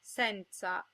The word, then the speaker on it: senza: Most of the time, O and E are pronounced closed. O as in ponte, and E as in nero. If the O or the E is in a stressed syllable, it's sometimes pronounced open, O as in donna, and E as in senza.